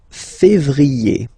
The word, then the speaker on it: février: Then comes février, okay? Remember when you have this accent aigu on the top of then you pronounce it e, okay? There is a lesson regarding this topic, so don't be afraid, and if you're not sure about that, well, try to practice it.